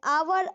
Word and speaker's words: hour: A horse, an uncle, but an hour, a university. In an hour, the H at the beginning of the hour is silent.